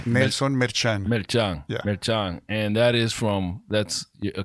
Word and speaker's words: Merchan: Because I want to say it in the Spanish way. Nelson Merchan. Merchan.